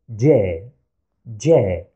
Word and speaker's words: ج: we pronounce it as J, J. You might think it has the same pronunciation as the English letter J, but here is a tiny difference. We add a slight D before the sound.